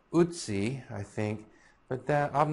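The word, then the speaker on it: Ötzi: Now it should be pronounced Utsi, I think, but that I'm just going to go ahead and be a 21st century American and pronounce it Atsi.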